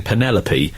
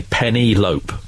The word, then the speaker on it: Penelope: hates it when people instead of saying Penelope they say penny lope no I've never heard